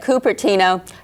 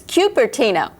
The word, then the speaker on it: Cupertino: together do you know the proper way to pronounce the name of our city well if you said coopera know you're wrong it's Cupertino although none of us will ever pronounce it that way but if you did